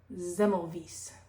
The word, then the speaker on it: Semmelweis: Ignaz Semmelweis.